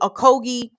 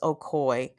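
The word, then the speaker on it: Ocoee: pronounce anything on today it's spelled o-c-o-e-e and it's pronounced okoy and the story about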